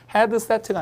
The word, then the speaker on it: headset: 이게 head가 아니라 head 이렇게 한 음절로 발음해요. 그래서 headset가 아니라 headset 이렇게 쓰는데 headset은 있어요.